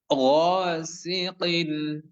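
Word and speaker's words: غاسق: শাররি ওয়ামিন শাররি ওয়ামিন শাররি ওয়ামিন শাররি এরপরে গসিন গসিন গাইনের উচ্চারণ সুন্দর করে বাংলা গ এর মতো নাকিন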